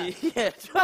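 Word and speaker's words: 芈月传: 是戏的电视剧《芈月传》，我的导演。什么？《芈月传》。芈月传。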